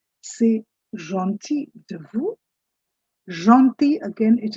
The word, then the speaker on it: gentil: It's not gentil, L is silent. C'est gentil de vous.